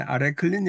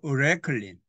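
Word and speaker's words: arecoline: 그다음에 아레클린이 아니고 어레클린 항상 이야기하지만 a i의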